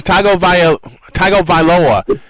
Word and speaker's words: Tagovailoa: Tua Tagovailoa is the freshman's name. I'll just say yes. I'm looking at the pronunciation. Tagovailoa is the freshman's name.